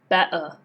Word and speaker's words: better: So for example, better not better. Better. Repeat after me.